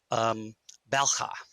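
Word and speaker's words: bel'khah: So there's two syllables, bell, with an apostrophe at the end. So it's sort of bell. It's got that bell, which I can't pronounce properly, of course.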